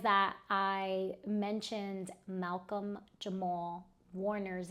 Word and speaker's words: Warner: So I um I said Walker instead of Warner and I was like, "Yeah, I can't have that."